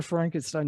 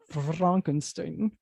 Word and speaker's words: Frankenstein: Frankenstein. No, it's pronounced Frankenstein.